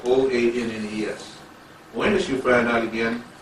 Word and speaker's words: Oannes: They had as a chief figure in their history Oannes. Oannes, and that's spelled O-A-N-N-E-S.